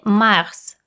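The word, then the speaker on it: mars: затем следует весенний месяц март или макс в этом слове нужно произносить конечный с следом идет апрель или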